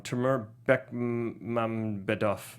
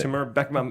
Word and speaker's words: Timur Bekmambetov: And Timur, I'm gonna say his name on Timur Bekmambetov. No, you nailed it. Timur Bekmambetov.